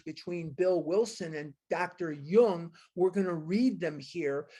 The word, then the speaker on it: Jung: Jung is pronounced Jung.